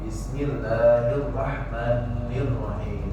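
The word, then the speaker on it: الرحمن: Kemudian arrahman mim ya panjang dua harakat bertemu nun tidak boleh ditasdid kalau ini. Nah ini yang sering ya malah ditasdid yang harusnya enggak ditasdid malah ditasdid. Bismillahirrahman boleh. Bismillahirrahmanirrahim. Enggak pernah ada tasbih jadi jelas. Ninnya dua harakat, nunnya tidak ada tasid ke asr.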